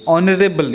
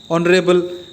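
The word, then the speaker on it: honorable: लेकिन ऑनरेबल या ऑनर्ड, ऑनरेबल, तो इसके प्रोनाउंसिएशन में ओ आता है.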